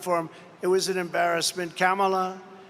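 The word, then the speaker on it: Kamala: it was an embarrassment camela sometimes referred to as kamla you she get about nine different ways of pronouncing the name and because the Press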